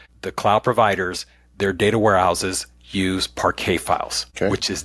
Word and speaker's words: parquet: It sounds like parquet. That's how it's spelled, right? P R P A R Q U E T.